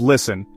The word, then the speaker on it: listen: Think of listen, where's the T or island, why the S.